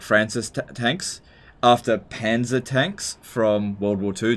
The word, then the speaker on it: Panzer: so basically it's anti-tank you pronounce panzer with a very dark a what what's a